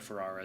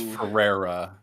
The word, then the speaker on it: Ferrera: forgot best supporting actress America Ferrari is nominated I think it's Ferrera Ferrera yeah America Ferrari America Ferrari